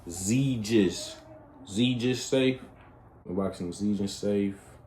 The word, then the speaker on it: Xegis: It's pronounced Xegis.